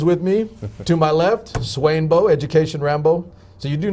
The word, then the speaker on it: Swainbo: To my left, Swainbo, Education Rambo. So you do know how it's spelled, right? It's capital S, W-A-I-N, Swain, right. Capital B, Right. and then an O, Swainbo.